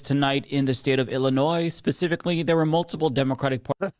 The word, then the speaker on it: Illinois: Stop adding the no more s when pronouncing Illinois. It's like it's annoying and you annoy me when you mispronounce Illinois.